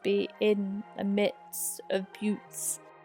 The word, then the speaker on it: buttes: in the midst of buttes. I think that's how you pronounce them, although I really want to call them butts.